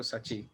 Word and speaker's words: Saachi: My name's pronounced Sachi.